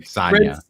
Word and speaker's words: Sonja: Red Sonja. Red Sonja. Sonja. Red Sonja. That's how you pronounce it.